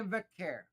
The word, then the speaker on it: Vaquer: Stephanie Vaquer. That Vaquer, is correct. Vaquer.